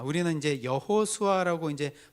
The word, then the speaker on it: 여호수아: 아, 우리는 이제 여호수아라고 이제 발음을 하지만요. 이게 히브리어로 발음 발음을 하면 어, 어떻게 되냐면 예호슈아라고 발음을 해요. 우리는 여호수아라고 하지만 히브리어로 하면 예슈아입니다.